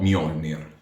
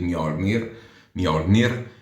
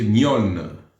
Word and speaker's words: Mjolnir: Così si pronuncia ragazzi, no Mjolnir. Mi dispiace, lo so che anche a me piace dire Mjolnir, invece si dice Mjolnir. Oh, ragazzi, si dice così.